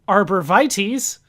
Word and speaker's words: arborvitaes: It's down, down, to the bottom of the stairs, then south, southwest, to the arborvitaes, as I'm told it's pronounced, then east, north, east to where the backward sign is, then north, up, south, down, through the Klein bottle.